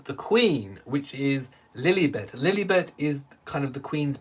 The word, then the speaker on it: Lilibet: her full name is lily bett lilly bit is how you would pronounce it in the uk lilibert uh little bit